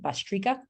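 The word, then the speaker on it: bhastrika: bastrika which is a fast belly breath um it's spelled b-h-a-s-t-r-i-k-a bastrika um and that's a yogi breath then there's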